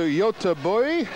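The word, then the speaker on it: Göteborg: year yes welcome to Yota boy that's my attempt at a Swedish pronunciation of Gothenburg I apologize to Scandinavia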